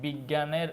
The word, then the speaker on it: বিজ্ঞান: এর উচ্চারণটা এরকম হয়েছে বিজ্ঞানের উচ্চারণটা জ্ঞান এই যে গজ ফালায় আকার বিজ্ঞান বিজ্ঞান ঠিক আছে সো গ